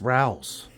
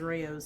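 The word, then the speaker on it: Rouses: forget got the Brows it's pronounced Rouse it is yeah that was Reyes I thought it was Rayos too what color whatever we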